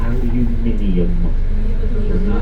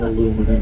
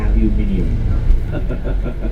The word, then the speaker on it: aluminium: is made lightweight metal which when spoken has five syllables it is aluminium notating aluminum okay it's not aluminum it's aluminium so we don't go